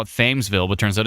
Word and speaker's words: Thamesville: 10 years later, we all know that I don't know how to pronounce a thing at all. I want to call it Thamesville, but turns out it's Thamesville.